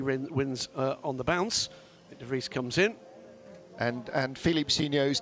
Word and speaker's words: de Vries: I'm still not seeing how de Vries rhymes with quick.